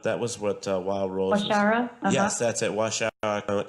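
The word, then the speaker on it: Waushara: But that was what Wild Rose Washara?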